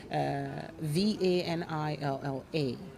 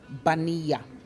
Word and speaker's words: vanilla: will pronounce it as baniya so the v has a b instead of vanilla yes and then double l in spanish is pronounced as y yes you know